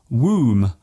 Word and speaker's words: womb: For example, the B in comb, womb and bomb.